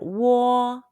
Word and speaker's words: uo: and o sounds say it's close to the british english word war say your lips are